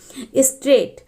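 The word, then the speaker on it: straight: में L silent है स्ट्रेट स्ट्रेट में आप देखेंगे की ग की साउंड नहीं आती है इसलिए यहां पर ग साइलेंट है मोर जब आप मोर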